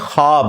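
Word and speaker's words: خواب: नहीं आ सकता अच्छा यह लफ्ज लिखने में है ख्वाब खवा वाव अलिफ बा लेकिन पढ़ने में यह ख्वाब है वाओ साइलेंट हो जाता है ख्वाब पढ़ा जाता है ये लफ्ज उर्दू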